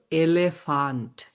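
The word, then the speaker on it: Elefant: ওরকম যেমন এটা হচ্ছে ইংলিশেও এটার মতই দেখতে যে এলিফ্যান্ট আমরা বলি এলিফ্যান্ট এলিফ্যান্ট ইংলিশে এক্স্যাক্ট সেইম বানান কিন্তু আমরা এখানে বলব এলেফান্ট এলে ফান্ট ফিলোসফি এইযে দেখেন এটা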